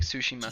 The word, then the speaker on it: Tsushima: to do like a little T sound at the beginning, but yeah, it's like Tsushima.